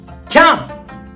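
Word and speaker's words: 喜屋武: 喜ぶ、屋敷の屋にこう武士の武と書いてキャン、面白い。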